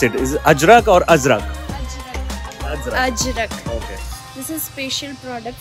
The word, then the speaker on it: अजरक: हाउ डू we pronounce it, इज अजरक और अजरक? अजरक।